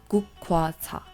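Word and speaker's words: 국화차: In Korean, we pronounce this as gukwa cha.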